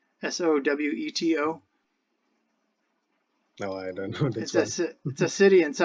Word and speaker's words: Soweto: I'm not I'm probably pronouncing it wrong. S O W E T O.